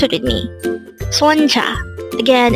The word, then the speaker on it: 손자: at De hangle R number 100 Sonja again Sonja this pronounces is a two syllable word the first syllable is son the second syllable is pronounce it with me Sonja again it's Sonja the word Sonja is